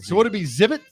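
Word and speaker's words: Xzibit: So would it be Zibit because you don't pronounce the X?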